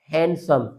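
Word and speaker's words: handsome: इसी तरह ये हो जाएगा हैंडसम।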